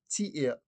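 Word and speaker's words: Tiea: Most of the time you will hear tia being used. So tia is spelled T-I-E-A.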